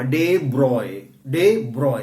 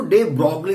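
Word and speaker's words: de Broglie: डे ब्रॉय. कई लोग ना इसको डे ब्रॉगली बोलते हैं. यार ये गलत है. इट्स नॉट डे ब्रॉगली, इट्स डे ब्रॉय.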